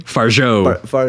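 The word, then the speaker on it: Fargeat: going to butcher that how do you say her name Faro Faro okay and it's a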